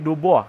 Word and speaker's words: Dubois: Bukan Dubois, tapi Dubois. Karena orang Prancis bacanya gitu.